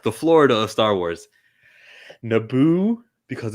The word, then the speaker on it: Florida: florida florida florida florida three syllables florida there you go you